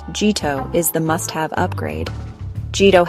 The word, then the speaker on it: Jito: On Solana, Jito, pronounced Jito, is the must-have upgrade.